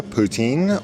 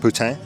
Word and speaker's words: poutine: So I got a poutine or as it's probably more correctly pronounced poutine. Here in Ontario we pronounce the poutine mostly.